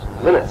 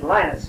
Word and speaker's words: Linnet: and there were always Linnets. But the parish that he's in now and the parish before, we've been calling him Father Linnet. Just think of a line on the page.